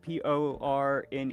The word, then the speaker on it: Pourne: Porne.